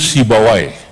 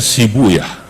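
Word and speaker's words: سيبويه: Sibu Yahuna, asluhu Sibawai. Dalam satu lughat dibacanya Sibuyah untuk menyesuaikan wazan. Sebab kalau pakai Sibawai huna nggak ketemu wazannya. Maka saya pakai satu lughat yang membaca Sibawai dengan Sibuyah.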